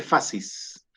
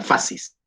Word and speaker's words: fascis: Fascis en italiano, se escribe fascis. Nosotros en castellano la C la pronunciamos como S, ¿cierto? Si se combina con una I, suena fascis. En italiano la C suena siempre como CH, por lo tanto se habla de fascis.